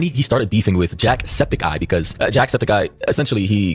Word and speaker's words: Jacksepticeye: I always say Jackseptikai, not Jacksepticeye. I always say it wrong, but I feel like it's the Septikai part sounds more it flows better than Septiceye.